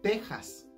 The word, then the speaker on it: Texas: enteras si se fijan aunque texas está escrito con x en español se lee tejas igual que la palabra méxico que aunque se escriben con x se leen como si tuvieran una jota luego seguimos con el